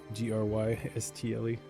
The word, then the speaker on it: Grystle: Grystle. I was totally going to spell it G-A-Y-N-G. Oh, nice. Gris, like grease.